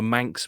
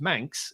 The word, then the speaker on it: Manx: one person from Manchester they are called manx but that's spelled m-a-n-c-s uh whereas manx as from the Isle of Man is spelled m-a-n-x so it sounds exactly the same but two completely different